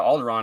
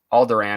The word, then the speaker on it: Alderaan: Alderaan, it's actually pronounced, and they pronounce it Alderaan in the movie, and they also pronounce Leia as Leia.